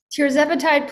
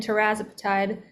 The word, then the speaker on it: tirzepatide: Tirzepatide plus, or tirzepatide, people will say that different ways, but that's how I pronounce it.